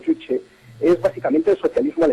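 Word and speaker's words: 주체: Bien, la filosofía Juche, pronunciado Juche, es básicamente el socialismo al estilo coreano.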